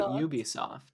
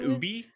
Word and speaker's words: Ubisoft: old are you yeah I pronounce it Ubisoft it's Ubisoft Ubisoft okay Ubisoft it's not Ubi ah drink more water